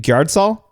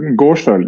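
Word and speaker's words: Gårdsøl: let you say it is it gardol uh Gorel yeah Gorel okay there you go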